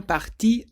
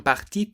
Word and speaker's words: partis: would say ils sont partis tôt. Again, the word parti sounds the same, but this time it has an S on the end.